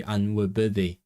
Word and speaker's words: anwybyddu: my previous video Welsh should be anwybyddu, because the Y is a sound unless it's after the stress. Anwybyddu, not anwybyddu, anwybyddu. So, oops.